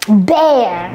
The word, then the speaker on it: bear: All right, Cody, can you help us pronounce l'ours in English? Bear.